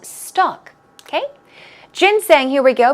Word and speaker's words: ginseng: also called stock okay jin-sang here we go pronunciation that's ginseng stress goes right there on the first gin so let's try it